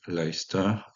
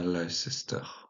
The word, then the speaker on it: Leicester: Leogarecastre, donc, qui va donner l'actuelle ville de, attention à la prononciation, de Leicester, pas Leicester.